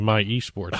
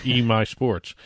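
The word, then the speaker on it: MySports: I started saying My eSports. It's My Sports.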